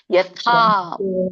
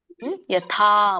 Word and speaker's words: ಯಥಾ: ದೀರ್ಘ ಇದೆ ಪ್ರಾಪ್ತೋ ಎಳಿಬೇಕು ಯಥಾ ದೊಡ್ಡ ಥ ಇದೆ ಯಥಾ ಮತ್ತೆ ಕೂಡ ದೀರ್ಘ ಕೂಡ ಇದೆ ಥಕೆ ಯಥಾ ಬ್ರಹ್ಮ ಸಂಯುತ ಸಂಯುತ ಕುರಿತಾಗಿ